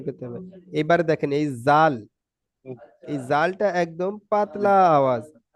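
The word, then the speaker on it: ذ: এবারে দেখেন এই জাল এই জালটা একদম পাতলা আওয়াজ জাল জাল জাল নরম ঝিরঝিরে জাল জাল একদম পাতলা ভাবে পড়তে হবে জল জি তারপরে দেখেন এই জাটা যা জাল আর জ জি জাল আজ যাটা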